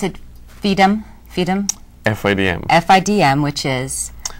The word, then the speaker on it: FIDM: Now tell us about, do you pronounce it FIDM?